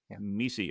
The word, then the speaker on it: MECE: exhaustive matrix or mece howard the right way to pronounce that mesi okay great and uh